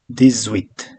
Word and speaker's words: dix-huit: Since huit starts from vowel, as I said, H is not pronounced, so it's kind of vowel sound. So this becomes z, this, okay, dix-huit.